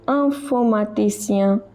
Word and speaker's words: informaticien: On peut devenir ingénieur ou informaticien. Remember, this is not in, it is un. Similarly, over here it is not in, it is un. Ingénieur, informaticien. Just now we saw IEN is pronounced as IA.